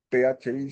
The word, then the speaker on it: phi: Bueno, vamos a complementarlo con otro número que se llama, no se pronuncia PHI, sino esa PH como una F.